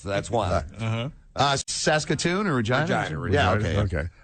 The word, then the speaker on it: Regina: Regina. Yeah, okay. Right, which they said was the town that rhymes with fun.